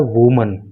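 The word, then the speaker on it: women: तो in that case spelling तो हो जाती है डब्लू ओ एम ई एन और प्रोनंसिएशन हो जाता है वमन तो जब कोई बोले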